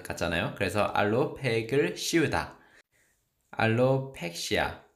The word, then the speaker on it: alopecia: 알로펙시아. 그런데 원어민 발음은 알로피시아입니다. 알로피시아.